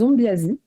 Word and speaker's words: Ombiasy: Et donc, les acteurs de cette magie malgache s'appellent les Ombiasi. Alors, ça s'écrit Ombiasy pour ceux qui voudraient creuser.